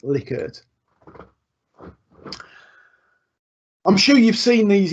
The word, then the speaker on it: Likert: okay the other one this likert or likert as everyone pronounces it it is it is I am I am assured it is pronounced liquored I'm sure you've seen